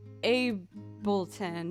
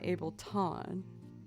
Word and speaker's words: Ableton: It's pronounced Ableton, not Ableton.